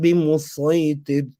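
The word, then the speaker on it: بمصيطر: Is it scene? Is it a Sad? If you look at it now, all of them agree that it's a Sad, apart from the last two, Mulanji and Khabazi. The last two say no, it's a scene. But if you look at Imam Shatibi, we recite it with a Sad. So now you know that when we recite the Quran, we're going to read it with the Sad.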